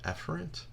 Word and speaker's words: efferent: efferent little side note the correct way to pronounce this is afferent and efferent many instructors will just say a farad's and efferent to avoid any type of confusion all right so we